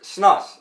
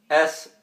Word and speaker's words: snus: Alright, so, and then there's snus, like I said. S-N-U-S. I couldn't even spell it, I had to look.